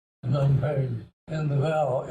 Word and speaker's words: Phnom Penh: And I learned that Phnom Penh is not the right pronunciation. Let me try to get it right. Phnom Penh sounds just with your lips. What? Don't think. It's not a click with your tongue. It's just lips.